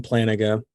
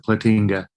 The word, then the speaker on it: Plantinga: Well, they pronounce it Plantinga. Plantinga. They've seen it, because I have a book in my reading shelf that David Noggle suggested. So Plantinga. So yeah, and I think most people pronounce it Plantinga incorrectly.